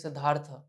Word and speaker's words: Siddhartha: And the reason why I was, Is it Siddharth or Siddhartha? sir, it is Siddhartha. In Sanskrit, the tha is full a, sir, with it is pronounced as Siddhartha.